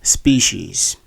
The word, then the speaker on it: species: you have been pronouncing the second word is this in this word the stress force on the first syllable and the word has two long vowels which is an uncommon situation that's the vowel e uh in the word and the word is actually pronounced as species species instead of species